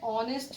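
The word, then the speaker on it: honest: था इसके बाद है ऑनेस्ट मैन और इसमें ऐड से स्टार्ट हो रहा है तो ऐसे स्टार्ट हो रहा है लेकिन साउंड वह की निकल रही है ए साइलेंट है तो यहां पर पैन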